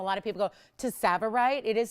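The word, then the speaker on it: tsavorite: of people go to savorite it is spelled severe the t is silent um pronounced saborite spelled to savorite it is pronounced savorite but if you're familiar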